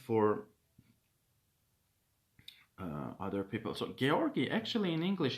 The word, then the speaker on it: Georgi: uh other people so georgie actually in english it's george yeah it's george but in armenia in georgia this name is uh pronounced as georgi as georgi in georgian yes so uh he